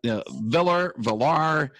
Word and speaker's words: Villar: We got Villar, VR, if you want to put the two L's together like they do in the Spanish pronunciation.